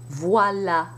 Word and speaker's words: voilà: The A can have an accent grave in words such as voilà, and it's pronounced as though it had no accent, just A, the front A.